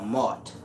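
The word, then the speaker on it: موت: If you go to ancient Arabic, you have al-Maut or Maut, M-A-W-T. M-A-W-T is the word for death. It's pronounced and is the same word as M-A-A-T.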